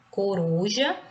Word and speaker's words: coruja: Coruja. Coruja, a sílaba tônica com mais intensidade, pronunciada com mais intensidade, é o R, uru, tá? Então, ela é a penúltima, por isso que ela é uma paroxítona, tá?